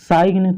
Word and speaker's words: sign: क्या है, जी है, तो इसको साइन थोड़ा पढ़ेंगे, इसको हम साइन पढ़ते हैं। यानी यहाँ पर जी क्या है आपका, साइलेंट है। ठीक है, तो अगर आपको कहीं एन से पहले जी दिख जाए तो उसको नहीं पढ़ना है, उसको हम साइन पढ़ेंगे।